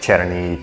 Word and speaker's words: černý: I mean, the spelling's slightly different, the spelling and pronunciation is slightly different, but basically it's like Černý, Černo, something like that.